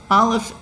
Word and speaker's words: aleph: like olive for example aleph is a silent letter it's the sound before sound it is the primal